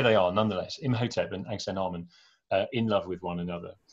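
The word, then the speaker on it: Ankhesenamun: called, in the film, the name is pronounced something like Angsenarmon, which is not a zillion miles away from the very good, well-attested name Angsenamun. We don't really know how ancient Egyptian names were pronounced, so Angsenarmon is probably a pretty good attempt at it.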